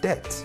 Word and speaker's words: debt: you have definitely met debt. The B is not pronounced, but we don't have the money to do so.